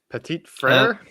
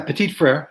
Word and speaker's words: Petit Frere: Petit Frere? But yeah, Petit Frere. Yeah, just like Petit it's Frere, okay.